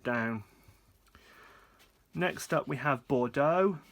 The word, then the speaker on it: Bordeaux: next up we have Bordeaux or Balo if I'm going to say it properly and Balo is non-